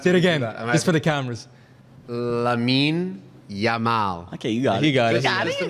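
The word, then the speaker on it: Lamine Yamal: list and think of a bigger name than Yamin Lal but who's the one did I say it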